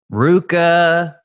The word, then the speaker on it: RVCA: C at Volcom we had Hurley Billabong Quicksilver Luca Luca I just learned how to pronounce that ace I think it was RVCA